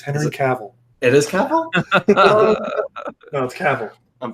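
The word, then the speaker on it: Cavill: saw this trailer and I saw that inner Cavell was a part of it I'm like okay yeah this this is something I'm good all right since we're correcting pronunciations it's Hennessy cavil it is Kappa Kappa I'm blaming my friend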